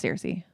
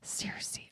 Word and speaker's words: Searcy: Searcy, Arkansas. I think it's Searcy.